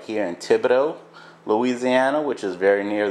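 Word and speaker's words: Thibodaux: you would probably laugh it's spelled t h i b o d a u x so just a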